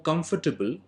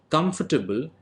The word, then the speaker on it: comfortable: business people are more comfortable staying in luxury hotels. Now, the word comfortable is pronounced incorrect. Therefore, the correct pronunciation is comfortable.